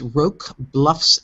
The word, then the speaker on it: Roque Bluffs: Yeah, I'm going to embarrass myself and say I don't know how to pronounce it, but I believe it's Roque Bluffs, Maine, Roque, and it's